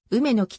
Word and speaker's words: 梅木: した孔明のうめきは梅の木と読む同校敷地の南側